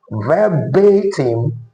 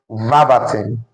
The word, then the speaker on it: verbatim: Now, according to the transcription, this word is actually pronounced as verbatim and not verbatim.